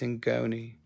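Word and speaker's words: ngoni: name here in ghoni that that's what that's how you say it it's in ghoni it's from west africa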